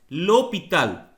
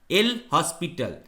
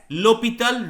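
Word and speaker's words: L'Hôpital: The rule is named after Guillaume de L'Hopital, which is a French name and pronounced as L'Hopital, not El Hospital. So that must be pronounced as L'Hopital rule for limit.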